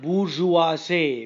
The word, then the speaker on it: bourgeoisie: The next word, bourgeoisie, B-O-U-R-G-E-O-I-S. This is a weird word, weird spelling, and an equally idiotic, outlandish pronunciation.